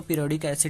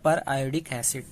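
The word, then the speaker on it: periodic acid: कोई इसको पीरियोडिक एसिड भी बोलते हैं पर इसका असली प्रोनाउंसिएशन है पर आयोडिक एसिड, ठीक है।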